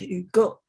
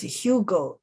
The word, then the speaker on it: Hugo: we have to talk a little bit about you go now we call him you go you go we sometimes would mispronounce it as hugo so of course in english now you if